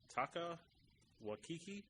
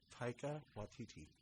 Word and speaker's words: Taika Waititi: Taka Waititi. Taika Waititi.